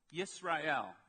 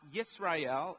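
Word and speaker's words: ישראל: going to go through is a word called yes Royale of course you know the word in English as Israel now yes Royale and Israel are the same word yes ray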